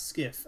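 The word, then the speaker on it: SCIF: skiff uh inside the photo from rooms so pronounce skiff a a s c i f it's a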